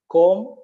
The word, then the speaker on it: comb: something worth noting yes the letter B is silent we should say to look at some other words of this type com wom bomb lamb comb is comb is